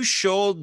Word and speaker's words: should: Ed è You Should Be Grateful. Ho detto you bene? Should. La L non si pronuncia, si pensa.